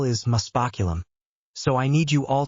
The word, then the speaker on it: muspoculum: Now the spell is muspoculum, so I need you all to pronounce it with me. Muspoculum, good again, muspoculum, excellent.